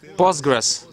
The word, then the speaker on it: Postgres: i'm i'm business person postgres please pronounce it correctly it's postgres or postgresql before i were working